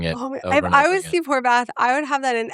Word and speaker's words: Horvath: And Kim Kardashian says, we're going to do the Horvath test after Steve Horvath, who's an epigenetic researcher. And Khloe Kardashian, I think it's Khloe, goes, Horsbath? And she just keeps mishearing Steve Horvath's name as Horsbath.